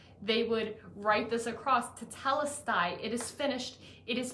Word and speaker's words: Tetelestai: In ancient times, when a promissory note was paid, the one holding the note would write tetestelai. Tetelestai.